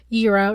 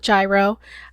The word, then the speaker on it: gyro: Euro yes it's pronounced Euro not gyro I think there's like a little roll to it too cuz we kind of